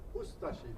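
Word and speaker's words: Ustaše: We pronounce it Ustashi. We pronounce the U and de-emphasize the ashi.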